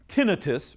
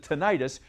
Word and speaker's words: tinnitus: Teams, if you suffer from tinnitus, or some people pronounce it tinnitus, you have ringing in your what?